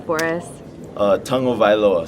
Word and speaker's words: Tagovailoa: name for us uh tongue o vioa so you say tongue first o VI low tell by low what's the funniest um